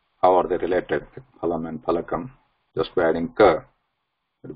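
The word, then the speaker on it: फलकम्: Yeah, so yeah, just bear it because sometimes I pronounce it as fa, which is not correct because I'm used to that now here. It is Phalakam.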